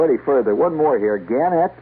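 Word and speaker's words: Gannett: further one more here ganet or ganet they they prefer to pronounce a gunet Westchester newspapers starting Wednesday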